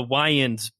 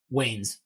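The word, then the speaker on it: Wayans: Williams as Harvey D it does have the wans uh Marlin wans as Robin like it does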